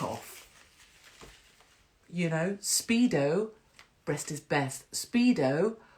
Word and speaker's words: Speedo: Speedo rhymes with pedo, right?